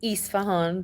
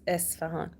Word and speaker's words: Esfahan: People say Isfahan, but it's Esfahan.